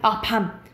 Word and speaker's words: 밤: 밤. 깜깜한 밤이 있고 먹는 밤 있잖아요. 먹는 밤을 길게 발음해요.